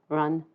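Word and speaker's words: 壬: And these are pronounced jia, yi, bing, ding, and I'll try to be very careful with those two because they're very close together in pronunciation. Wu, ji, geng, xin, ren, and kui.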